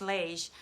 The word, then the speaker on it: Lage: I think her last name is pronounced Lage.